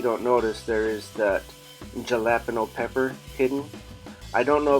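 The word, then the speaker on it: jalapeño: my attention Tyler that it's not called a jalapeno apparently I was wrong I guess the correct pronunciation is jalapeno so yes I will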